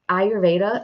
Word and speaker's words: Ayurveda: kinds of things um ayurveda I always say that wrong I think I'm saying it right this time ayurveda Apparently that is so